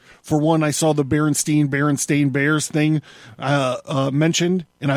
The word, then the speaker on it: Berenstain: I would like to say that I very clearly remember Berenstain Bears being Berenstain Bears. I clearly remember Berenstain Bears being Berenstain Bears. I very specifically remember it being pronounced Steen on the show.